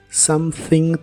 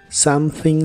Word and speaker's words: something: dice algo de comer la th de la palabra something es la versión suave y suena solo como aire y la palabra eat se pronuncia con la i larga o doble something to eat something to